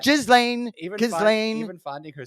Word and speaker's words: Ghislaine: Her name is Ghislaine. I know, even not Ghislaine.